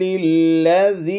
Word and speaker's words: الذی: کے ساتھ ملائیں گے، یہ یا جو نظر آ رہی ہے آپ کو اسکرین پر، اس کو ہم نے نہیں تلفظ کرنا اور الف کو بھی نہیں، زال سین زیر ذس،